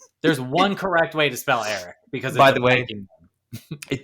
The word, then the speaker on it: Eric: Despite its seemingly simple spelling, Eric is often mispronounced as Rick. Nope. No, it is not. Not once in my life has anybody ever been like Rick Curtis. It's not a thing. Or Ear Rick.